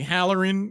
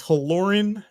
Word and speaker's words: Halloran: I feel some kind of way when people call me Halloran. It's Halloran.